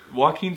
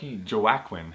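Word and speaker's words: Joaquin: Amy Adams and also also never could pronounce until now Walken yeah Wen joakin joakin exactly that's I always thought that's how you had to say his name and then the voice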